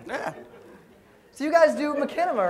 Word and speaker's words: Machinima: So you guys do Machinima, right? Like that's your thing. Machinima, Christ almighty. I'm trying to like segue into Machinima. This is the research portion of everything. No, it's called Machinima.